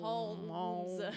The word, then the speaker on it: Holmes: And I make sure to emphasize the L. Holmes. Yeah. Holmes. Yeah.